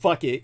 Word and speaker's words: Phuket: Then there's the Phuket, P-H-U-K-E-T, it's pronounced fuck it, go-go bars.